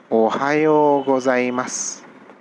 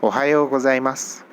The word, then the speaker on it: ohayo gozaimasu: may have noticed that there's a su in the end but when i'm saying the word i'm not really stressing on the su i'm not even saying su i'm just leaving it like an s ohio hos i must